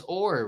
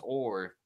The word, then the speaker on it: or: yeah but yeah it's or right that's that's how you pronounce gold its or but all even though